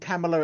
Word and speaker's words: Camilla: Another profile called Camilla, it rhymes with Pamela 47, told me it